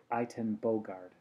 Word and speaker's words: Ayton Bogart: teach my colleagues and although it doesn't sound like uh the dutch pronunciation um he pronounces it item bogard okay so intraoperative neuropathology